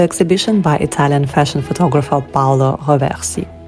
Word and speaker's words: Paolo Roversi: Today is the last day of the photo exhibition by Italian fashion photographer Paolo Roversi. Why do I pronounce it in French? Roversi.